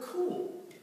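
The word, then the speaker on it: kuwl: That very word in the Hebrew, it's spelled out K-U-W-L. But if you were to try to pronounce it in the pronunciation key, it gives this. It's the word cool.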